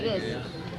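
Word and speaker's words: Gouges: Olimpia de Gus. ¿Cómo se escribe? Mira, se escribe Gose, pero es de Guess.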